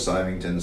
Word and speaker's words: Symington: Whenever I go visit family in Scotland, it's always Symington, so I know that it's the right way to say it.